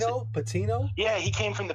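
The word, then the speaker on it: Patiño: How do you pronounce it? Patino.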